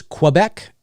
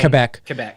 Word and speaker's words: Quebec: I'll say Quebec, but I think you guys say Quebec, right? It sounds like you're saying Quebec, but I'm saying Quebec. Yes, the correct pronunciation is Quebec, and then, but just up here, we're, how you get lazy and whatever, and we just say slang, Quebec.